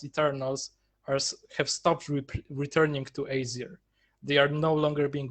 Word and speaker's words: Aesir: Aesir, right? I'm pronouncing that right.